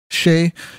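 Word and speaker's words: Skjei: Burns Brady how do you say his name Shay Shay and Brett PES pesy pesky pesh and Demitri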